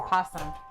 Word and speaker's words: opossum: That's a I guess great- the second O is probably silent. Awesome possum. Awesome possum. Does anybody say opossum? Is it? Do people pronounce it that way, or is it always possum?